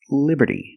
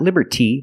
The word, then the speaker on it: Liberty: Liberty and we see the T and Liberty is between vowels so it's pronounced like a fast D Liberty Liberty not Liberty but Liberty the Statue of Liberty